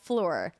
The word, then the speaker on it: Phlur: For luxurious perfumes that's all about good, clean fun, try Fleur. That's spelled P-H-L-U-R.